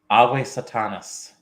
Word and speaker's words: Ave Satanas: Ave Satanas. Correct Latin pronunciation, too, for classical Latin.